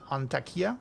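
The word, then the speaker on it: Antakya: And and yourself, you are from and I'm sorry if I pronounced it incorrectly, but you are from Antakia.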